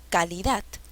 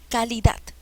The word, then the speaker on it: calidad: k league that calidad donde lleva la mayor fuerza de voz donde está el acento calidad a ver voy a probar con cada sílaba calidad no no es calidad calidad no tampoco es calidad cuál es la sílaba